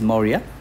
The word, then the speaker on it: Maurya: It is pronounced as Maurya.